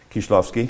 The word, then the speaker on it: Krzysztof Kieślowski: Kieślowski? Kieślowski, yes, thank you. Not that I ever would have pronounced it correctly.